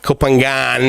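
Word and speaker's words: Phangan: how to pronounce it kopangan is how a lot of people pronounce it but i've been very very highly encouraged now pronounce the g or at least the g of the of the english phonetical spelling right because of course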